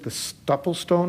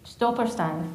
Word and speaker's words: Stolperstein: So I won't pronounce the German correctly, but the Stoppelstone, is that how you? Stolperstein.